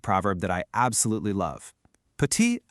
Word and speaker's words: petit: See that T on the end? You just ignore it. It's pronounced petit.